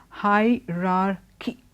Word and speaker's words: hierarchy: a confusion of the word high RAR key there are two R's there so don't drop one it's always high rocky not hierarchy hierarchy the two R's are they both words need to be pronounced and then with that